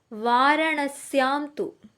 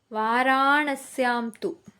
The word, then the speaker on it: वाराणस्यां तु: പരലയാം വൈദ്യനാഥം ച ഡാകിന്യാം ഭീമശങ്കരം സേതുബന്ധേതുരാമേശ നാഗേശം ധാരുകാവനെ വാരണസ്യാംതു വാരാണസ്യാംതു എന്നാണ് അതിന്റെ ഉച്ചാരണം കുത്രജസ്ഥലേശു വാരണസ്യമി ദൃശ്യതെ വാരാണസ്യാംതു വിശ്വേശം ത്രമപകം ഗൗതമീതടെ